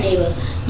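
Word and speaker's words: neighbour: में आप देखेंगे कि इसको पढ़ते हैं नेबर यह जी साइलेंट रहता है ठीक है बी के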